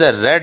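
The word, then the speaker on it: read: में both the friends रेड the book है लफज़। क्योंकि रीड की दूसरी फॉर्म स्पेलिंग एक जैसे होते हैं लेकिन इनकी प्रोनाउंसिएशन तब्दील हो जाती है। रीड रेड रेड दोनों दोस्तों ने किताब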